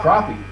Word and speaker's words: crappie: So, crappie. It's a delicious fish. It's fun. Is that how it's pronounced? Crappie? Crappie. Yeah, crappie. I mean, you can say crappie, I guess.